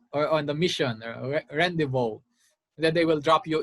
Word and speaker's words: rendezvous: rendezvous this is not rendezvous because this is uh this is a borrowed french award so you have to follow the french pronunciation rendezvous to celebrate their efforts